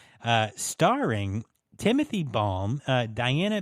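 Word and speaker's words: Balme: is it Timothy balm I pronounce it as balm balm okay and then Diana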